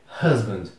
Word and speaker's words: husband: b a n d husband também cuidado com essa pronúncia da sílaba Inicial é um h u Mas você pronuncia r r então é husband último desse quadro Cousin